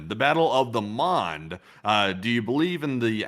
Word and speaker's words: Mons: Yeah, this would be the Angel of Mons. Actually, at the Battle of Mons. Well, Mon, which is spelled M-O-N-S.